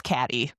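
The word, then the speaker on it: Cady: Her name is Katie and it's spelled C A D Y just like in Mean Girls. So guess what? It's Caddyy.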